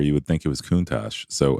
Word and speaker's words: Countach: Yeah, there's plenty of words that have CH at the end that use the hard K.